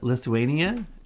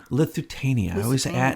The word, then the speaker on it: Lusitania: false flags from the Lithuania. How do you say it? The boat they sank, to get us into the war with Germany the second time. Lusitania. I miss a syllable in there.